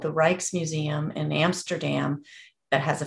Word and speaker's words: Rijksmuseum: And there's also a museum called the Rijksmuseum in Amsterdam that has a fantastic website. It's spelled RJIKS, which is an odd spelling, but RJIKS Museum.